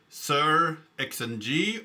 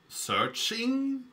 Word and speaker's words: SearXNG: Today we are going to talk about sir xng or searching perhaps we could pronounce it like and that's much easier than sir xng and I'm going to say it a lot in this video.